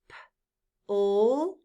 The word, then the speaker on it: plan: P-L-A-N. Plain. The E is silent. But what if I took away the silent E? Now what sound would the A make? Ah. The sound would be ah. P-L-A-N. Plan.